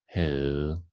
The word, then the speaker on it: havde: The last one is really different from its writing. We can see we don't pronounce the V and we don't pronounce the D, and we make it a long sound, as in havde.